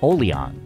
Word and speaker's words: Oliang: name from the Teochew word for iced coffee, pronounced Oliang.